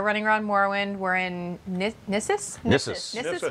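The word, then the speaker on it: Gnisis: We're in Nissus right now? Nissus. That's the only one I know for sure. Yes, in this one, the G is silent, unlike in Dreg.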